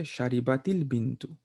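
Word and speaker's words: شربتِ البنتُ: You have to say sharibatil bintu. Otherwise, you cannot pronounce. Okay, so keep this in mind.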